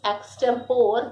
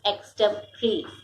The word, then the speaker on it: extempore: E-X-T-E-M P-O-R-E. So here children, O is a silent here. O is silent here. We say extempore.